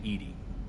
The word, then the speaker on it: EDI: Why are you named Edie? EDI is the phonetic pronunciation This might of be repeat, but I don't EDI.